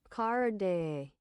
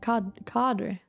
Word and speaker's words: cadre: Carde. Carde. Not card, it's carde. No, not carde. Cadre.